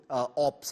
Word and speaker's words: OP: And in my view, all of you are also ops, okay? I hope I'm pronouncing that correctly, but that's OP, thank you guys. OP, not ops.